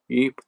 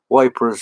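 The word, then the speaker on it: Ypres: it's a russian thing eep was nevertheless called wipers from 1914 to 1988 but yeah it was called wipers they couldn't pronounce eep uh or yeapers so they call it wipers that's uh very hello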